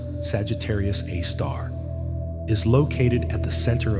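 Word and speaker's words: Sagittarius A*: The Milky Way's super massive black hole named Sagittarius AE pronounced Sagittarius A star is located at the center of our galaxy about 26,000 lightyear away from Earth.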